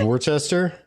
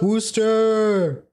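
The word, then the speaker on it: Worcester: No apparently that's how it's pronounced by the locals at least.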